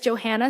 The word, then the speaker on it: Johanna: everyone my name is Johanna it's pronounced like Joe and Hannah put together and one way